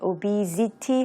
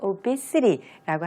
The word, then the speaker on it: obesity: 반면에 명사형 아까 들으셨겠지만 obesity 하지 않고 obesity라고 하게 되죠. 그래서 우리 city, 도시라고 할 때 그 city라는 단어의 발음이 obesity에서 마지막 부분에 들리게 됩니다.